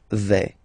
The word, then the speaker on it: vais: Okay, first person here, je vais. Remember, final S not pronounced.